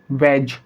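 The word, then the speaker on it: wedge: आपने देखा यहाँ पर जी है और जी से पहले डी लिखा हुआ है, जी से पहले डी है, तो इस कंडीशन के अंदर डी साइलेंट होगा। हैज, वेज।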